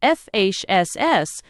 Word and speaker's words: Feis: It is a face pronounced fss they're having and prizes given for the best tale told or the best song sung.